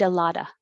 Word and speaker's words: a lot of: of a lot of you don't have to say the v in of it just sounds like uh so now the t in eat changes to a d i e de la da and the t in lot changes to d so it sounds like i eat a lotta i eat a lot